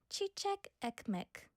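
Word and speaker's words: çiçek ekmek: Oh, I got the pronunciation. Chichek. Chichek ekmek. Chichek ekmek.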